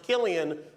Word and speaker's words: Cillian: Interesting fact about his name, it's pronounced Killian when he does drama. When he does comedy, it's Cillian. And congratulations to Cillian's co-star, Robert Downey Jr., who is...